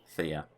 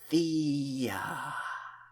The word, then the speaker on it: Thea: Oh, that'd be my pleasure, Thea. No, not like that. Say it like Thea. Of course, Thea.